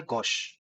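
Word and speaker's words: gauche: spelling है इसकी जी ए यू सी एच ई लेकिन इसका प्रोनाउंसिएशन है गोश गोश का मतलब होता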